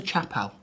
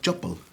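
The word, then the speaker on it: chappal: I believe what you're referring to is a chuppal. chuppal? And you Oh, and but you called it a chapal.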